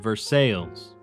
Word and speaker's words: Versailles: HOLIDAY I mean, Ver-SIGH. We locals pronounce it Ver-SALES.